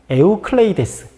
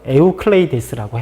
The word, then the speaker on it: 에우클레이데스: 근데 원래 정확한 발음은 에우클레이데스. 유클리드의 기하학이라고 알고 있는데 정확한 라틴어 명칭으로는 에우클레이데스라고 해요.